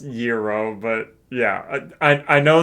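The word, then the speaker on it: gyros: just um I spell and pronounce it Yuros, but I said gyro for chat's benefit. Yeah, exactly. Yo, 100%. Yeah, it's it's pronounced Yuro, but yeah, I I know that you said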